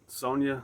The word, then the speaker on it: Sonja: Because it kind of sounds like Sonja. I spell it Sonja. And so that Sonja kind of sounds like song.